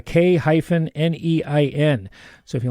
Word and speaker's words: K-Nein: And it's not spelled like you think it might be. So it's K-Nein.